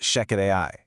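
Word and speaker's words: Shechet AI: That's spelled S-H-E-C-H-E-T, but pronounced Sheket AI.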